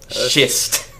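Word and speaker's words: Shyst: out how the character's name is pronounced because it's spelled s-h-y-s-t schist because it's named after a stone or something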